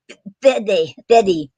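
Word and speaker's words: fáilte: Some other Gaelic terms you might hear are um, Fede means welcome, and it's spelled FAILTE.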